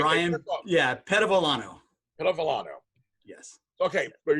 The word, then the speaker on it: Bryon: bad it's the pronunciation i get called byron so frequently that to the point where i just answer to it because people people want to transpose the the r and the y so byron but my